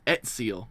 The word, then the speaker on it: Ezio: I mean because they pronounce they pronounce they pronounce Ezio as etsio in Italian as well because they pronounce it with a t like kind of.